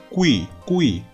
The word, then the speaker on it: qui: 끼도 아닙니다. sei qui 우이 우랑 이를 빠르게 발음하셔야겠죠.